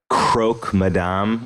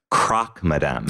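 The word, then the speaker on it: croque madame: think you know what I think it's like croak Madame we have the sandwich which is actually technically it it is correctly pronounced Croc Madame I've never said it that way oh well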